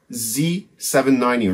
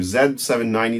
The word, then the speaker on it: Z790: still using this is an RS z790 or Zed 790 depending on where you are and how you want to pronounce this this is the master